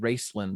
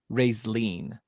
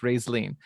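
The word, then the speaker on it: Raistlin: and when i said racelyn the first time he goes josh dude it's not pronounced that way it's pronounced ray's lean and i was like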